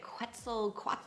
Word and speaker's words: Quetzal: They're calling it Quetzal, I don't know, it sounds like pretzel with a Q.